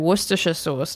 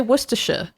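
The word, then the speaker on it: Worcestershire: Americans tell me, "Oh, it's so hard to say, you know, worersha sauce." And I'm like, "No, it's not. You just say worsher It's just Worersha.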